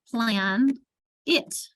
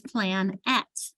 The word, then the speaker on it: planet: My daughter struggled spelling planet because she would spell it the way she heard it, plan it, right? And we're like, no, it's plan at. So this would be an example of a schwa because planet, or I